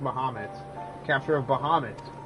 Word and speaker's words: Bahamut: until its capture of I keep saying bahm but it's pronounced bohamed capture of Bahamut its